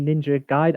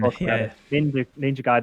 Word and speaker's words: Ninja Gaiden: a fan of the ninja guide i i got this wrong the other time ninja gaiden i was going to say it right i should have just committed i should have had the confidence uh ninja gaiden are